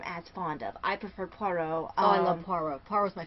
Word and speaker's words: Poirot: Yeah, for Agatha Christie, I love Poirot, and I like Mrs.